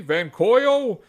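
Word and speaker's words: Vankyo: would close my list out with the van van coyo it's spelled v n k yo performance v630 projector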